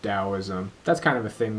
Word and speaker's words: Taoism: Lately, I'm getting into Taoism, Taoism spelled Taoism, pronounced Taoism.